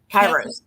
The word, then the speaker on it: Kairos: Kairos.